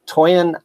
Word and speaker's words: Toyin: Toyin Ademola.